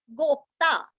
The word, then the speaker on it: गोप्ता: के लेना है गोपतिर गोप्ता आधा प और ता पूरा गोप्ता ज्ञान गम्य ग के